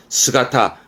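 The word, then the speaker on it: 姿: 용기 있는 모습은 용기 있는 모습 혼자 두면 스가타 엄청 자주 보입니다 스가타 결국은 위에 있던 요시라함은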